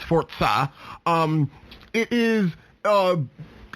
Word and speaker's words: Forza: forza games um i know i usually say forza but it's technically pronounced forza um it is uh it's it's it's ubiquitous